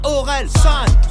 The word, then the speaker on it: Orelsan: Ça se prononce Orelsan.